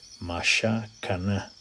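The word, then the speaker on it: מִשְׁכָּן: Mashakana. Entonces, si lo pronuncias como debe ser, es Mashakan.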